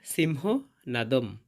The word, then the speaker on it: সিংহনাদং: এবং শব্দের শেষে অনুস্বর থাকলে তার উচ্চারণটা অর্ধেক ম এর মত হয়। তাই এর শুদ্ধ উচ্চারণ হবে সিংহ নাদম।